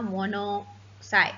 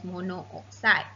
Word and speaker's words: monoxide: avoid the awkward pronunciation, we often drop the O or A, just like just now, monoxide. We don't call it as monooxide.